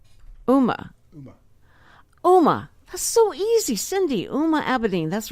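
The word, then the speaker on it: Huma Abedin: Alma Dean huh oma OMA so easy Cindy uma abidine that's right I'm amidine okay so they she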